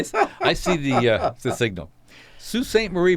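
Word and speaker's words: Sault Ste. Marie: I see the signal sue st. Marie Michigan and yes folk that's how it's pronounced the Coast Guard cutters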